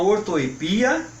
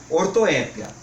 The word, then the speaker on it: ortoépia: falar também de prosódia Vamos começar com a ortoépia ou ortoepia quê que é a ortoépia ou ortoepia é